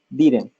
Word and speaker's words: didn't: Te lo escuché como didn't, pero el didn't no sería exactamente como otra D, sino como una R, didn't.